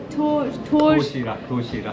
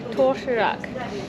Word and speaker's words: 도시락: And how do I pronounce it? What is the name of it? 도시락. Toshirak. 도시락. Toshirak.